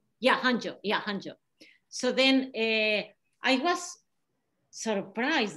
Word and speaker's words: Hangzhou: It's in Huangzhou. I don't pronounce it well. Zhejiang? Yeah, Zhejiang is in where Alibaba headquarters are. Alibaba headquarters is in Huangzhou, what that beautiful- Hangzhou.